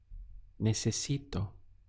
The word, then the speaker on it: necesito: Necesito. Let's count the syllables. We have ne, se, si, to. 4 syllables. Necesito is I need.